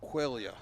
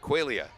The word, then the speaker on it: Quaglia: Paige Quaglia, the junior, will hit 8th and be in left field. And it's actually pronounced Quaglia. Quaglia. Yes. That's right. Yeah, the real Italian pronunciation, you don't pronounce the G.